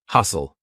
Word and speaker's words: hustle: Hustle, S-T-L-E. Lots of times words with S-T-L-E will have a silent T.